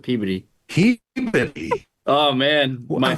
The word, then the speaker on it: Peabody: movie, Peabody. Well, there's a town in Massachusetts called Peabody. Oh. Is it spelled the same? Yeah, it's spelled the same, but everyone calls it Peabody.